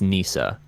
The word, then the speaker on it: Kneesa: Officially, it's Kneesa. That's the official canon pronunciation.